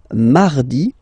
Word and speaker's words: mardi: So you can hear that you don't pronounce it that strongly, this R. Mardi, mardi. Okay, you don't need to go too deep like mardi. No, no, no. You don't move your tongue, so it doesn't sound like mardi.